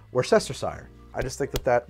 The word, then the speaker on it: Worcestershire: oh but that's pronounced Worcester Worcester sauce or something like that and I would say that is a regional pronunciation because in American English that is pronounced Worcestershire I just think that